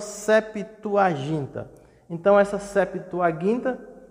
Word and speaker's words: septuaginta: a tradução da septuaginta a pronúncia correta é septuaginta e nós falamos septuaginta então essa septuaginta é